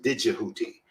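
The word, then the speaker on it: Djehuti: His name is I prefer to pronounce it as Tahuti, but some people pronounce it as Didgehuti, with a DJ rather than just TEH, Huti, UTI.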